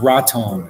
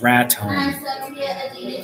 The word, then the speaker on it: Raton: that's one same Raton it's not rotten it's rat time rat time so I'm pronouncing it right I lived Internet so I not have the vocals the locals say Raton not rut home all I see yeah